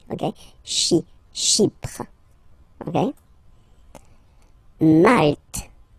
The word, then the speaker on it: Malte: Malte. Same thing here, you don't insist on the final E. Malte.